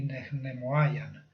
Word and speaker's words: nehnemoayan: En el caso de nehnemi no es reflexivo, entonces el primer ne es el frecuentativo, que va con la aspiración. Nej y nehnemoayan, sería como se diría.